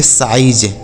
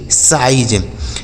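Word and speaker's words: size: निस नहीं पढ़ते हैं क्योंकि आई के बाद अगर इ लिखा होता है तो उस आई का उच्चारण आई ही होता है एस आई जेड ई इसे पढ़ेंगे साइज एस आई जेड ई साइज बी आई टी ई इसे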